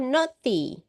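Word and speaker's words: naughty: Ini bacanya noti. Oh, no. Iya, no. G-nya gak usah kedengaran.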